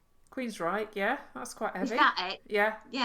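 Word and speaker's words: Queensrÿche: I don't know how to pronounce this one. Don't know that one either. Queens Rick. Queens Reich.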